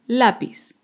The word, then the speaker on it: lápiz: n otro ejemplo es la palabra lápiz el lápiz es una palabra grave porque se acentúa en la penúltima sílaba lápiz un ejemplo de palabra